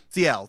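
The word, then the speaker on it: Sciel: No, I've got Verso, Lume, Mael, and Cecile. Is that how you say it? Ciel? Ciel, that's how you say it.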